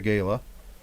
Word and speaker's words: gala: heard about, you know, the the gayla or the gala, whichever way you want to pronounce it.